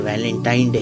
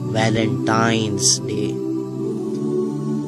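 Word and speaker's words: Valentine's Day: नाम पर गौर करें इसे जो आम कहा जाता है यह वैलेंटाइन डे है लेकिन हकीकत में जो इसका प्रोनाउंस एशन है वह है वैलेंटाइंस डे य एक वैलेंटाइन वाला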